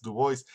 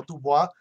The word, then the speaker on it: Du Bois: O sea, que muere en el 63, Du Bois, y siguió siendo una figura importante. Por cierto, se pronuncia así Du Bois, no Dubois, así lo pronuncian los gringos, Du Bois.